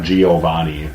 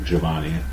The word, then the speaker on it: Giovanni: is more proper pronunciation the Italians don't pronounce long vowels like Americans tend to do oh it's not Giovanni its Giovanni huh little smoother that's